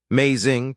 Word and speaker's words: Mei Xing: Mei Xing, 2 syllables, a particular tone on each that I could not reproduce correctly for weeks, and that made her laugh when I got it wrong.